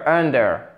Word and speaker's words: under: du temps donc under under accentuation sur la première syllabe under et gros accentuation